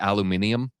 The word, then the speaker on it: aluminium: Why do British people pronounce it aluminium? Aluminium. Where's the other I?